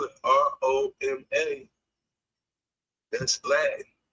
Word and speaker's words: Roma: But the city of Roma has always been pronounced over there as Roma. Just like we say Naples, you go over there is Napoli. So, I don't know how